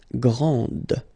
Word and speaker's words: grande: Okay, so grand, and then the feminine form, grande. Okay, so you put this E, and then you get the sound D, D, grande.